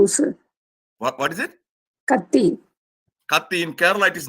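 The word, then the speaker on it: Kathi: I think bab sir what what is it Kati Kati in Kerala it is knife okay in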